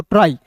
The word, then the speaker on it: try: देखिए दोस्तों यहाँ पे TR है तो TR को ट्रॉ पढ़िएगा और अंतिम में वाई है तो इसका उच्चारण आई के रूप में करेंगे, तो क्या हो जाएगा दोस्तों, ट्राई।